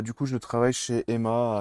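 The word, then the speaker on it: HEMA: Bah, du coup, je travaille chez Emma à Cap 3000.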